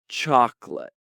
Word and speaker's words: chocolate: Chocolate. Oh, chocolate. Two syllables, not three. Like chalk lit, right?